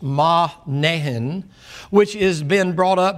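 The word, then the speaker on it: Manaen: it there, and Lucius of Cyrene, and that's pronounced Mahnehen, which has been brought up by Herod the Tetrarch and Saul.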